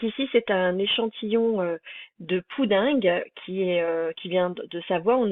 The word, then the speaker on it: poudingue: On prononce poudingue et pas pudding, comme on entend souvent au moment des cols.